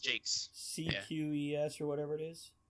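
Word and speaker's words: Jacques: jocks Jakes is it pronounced Jake J it's pronounced Jakes cqes or whatever it is yeah yeah yeah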